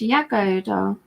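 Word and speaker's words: Jagoda: Oda but it's pronounced Yoda and she's from Croatia oh okay I think it's kind of an e European it's kind of an Eastern European type of pronunciation J is a y yeah so where have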